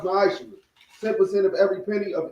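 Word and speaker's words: מעשר: It's 10th in Hebrew, and it's pronounced ma'ashra.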